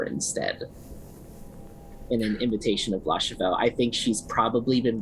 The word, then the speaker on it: Lar Cheveux: And I am interested in trying, because when Nyx met, how did you pronounce his name? Lar Cheveux? Is that right? Yeah, Lar Cheveux.